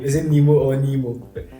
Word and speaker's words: Nimoh: I'm from Ghana, so I would say I prefer the Ghanaian pronunciation. Which one is that? Because that sounds more authentic, Nimo. But I would tell my fellow Ghanaian friends that they should stop adding "ko" to it.